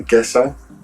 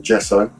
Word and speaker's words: gesso: They're called the gesso, or gesso, whichever you want to pronounce it, and bowl.